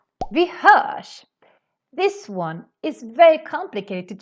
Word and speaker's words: vi hörs: you want to say vi hörs. But that doesn't happen in Swedish because when we have RS, we need to pronounce it as a sh sound.